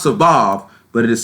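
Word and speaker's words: סָבַב: The Hebrew word for this is Sabav, but it is spelled C-A-B-A-B. It is pronounced Sabav, but it is spelled C-A.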